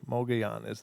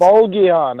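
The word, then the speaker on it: Mogollon: Mogayan is how you say it. Mogayan. Yeah. It's Mogayan.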